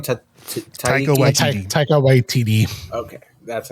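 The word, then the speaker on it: Taika Waititi: Tiger White TD.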